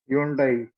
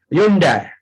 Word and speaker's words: Hyundai: Hyundai. Hyundai. The real pronunciation of this is Hyundai. H should be silent.